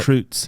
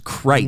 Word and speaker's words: Kreutz: Did you know you're pronouncing your name wrong? No, I'm saying it right. Kreutz. It's not Kreutz, it's Kreitz. No, it's Kreutz. So long I.